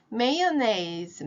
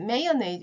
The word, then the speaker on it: mayonnaise: mayonnaise, mayonnaise.